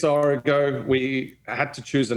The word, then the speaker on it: Origo: Now I pronounce it Origo. Is that wrong? Is it Origo? It's Origo.